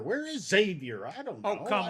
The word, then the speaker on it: Xavier: Hey, at least you pronounced it properly. Oh, good. Okay. All right. A lot of guys will call it Xavier, and that drives me nuts.